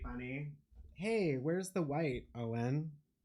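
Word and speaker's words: Eoin: I mean, my name is Gaelic Owen. E O I N. But yeah, some people do just like mispronounce it like as a thing, even like Irish people because traditionally it's spelled like E O U G H A N.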